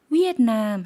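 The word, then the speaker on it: เวียดนาม: 베트남 같은 경우에 V로 발음을 하는데 태국분들은 V를워 W 발음으로 대신 받기 때문에 베트남 이렇게 안 하고 위에남 했다는 점 구분해 주시면 좋을 것 같습니다.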